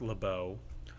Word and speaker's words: LaBeouf: It's pronounced LaBeau. Oh, LeBeouf. LeBeouf. Anyway, at the dinner on the Glass Onion Island, Miles shows off that he got the Mona Lisa.